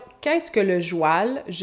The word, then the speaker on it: joual: Donc, le mot joual vient d'une déformation du mot cheval, une prononciation du mot cheval. Donc, cheval qui devient cheval, qui devient joual, qui devient joual.